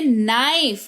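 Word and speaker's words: knife: अगर किसी शब्द के शुरुआत में के हो और उसके तुरंत बाद एन आ जाए तो के साइलेंट होता है। राइट? जैसे नाइफ के एन आई एफ ई नाइफ यानी कि चाकू नक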